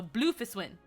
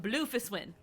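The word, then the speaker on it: Bloefhiswyn: e is silent and then fists the h is silent and then win so bluefish win um and then um merlib merlib so the w is silent merlib bluefish win we have learned how to say her name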